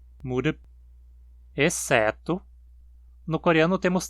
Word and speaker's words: 무릎: Palavras com apenas 2 sílabas não possuem uma com altura mais acentuada. 무릎, exceto...